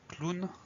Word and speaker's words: clown: dernier c'est le mot clown alors là c'est un mot qui vient de l'anglais ça explique pourquoi on prononce clown alors ça s'écrit clown